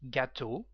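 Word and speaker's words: gâteaux: The plural gâteau, same pronunciation, and tuyau, with the meaning of pipe and also tip.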